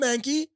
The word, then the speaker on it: Mankey: Call him Mankey. Rhymes with stanky.